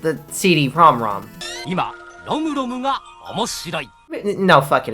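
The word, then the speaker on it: CD-ROM²: extension, 1988's CD-ROM 2, or as it's officially pronounced, the CD-ROM-ROM.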